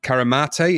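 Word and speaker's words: Carimate: Recording began in Caramate in Italy. That's how you pronounce that.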